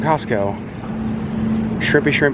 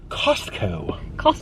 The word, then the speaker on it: Costco: And every time it's like, that's not how you say it. It's Costco. Call it Costco. Call it Costco. Thank you for shopping at Costco. Costco. Like she's very like enunciated. She puts the wrong emphasis on the wrong syllables.